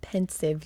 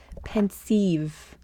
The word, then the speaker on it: Pensieve: Not pensive, you doodle. Oh my gosh, Aster, pensieve. Pensieve. Pensive? Guys, it's not pensive. It's not pensive. I know what pensive means. This is Pensieve.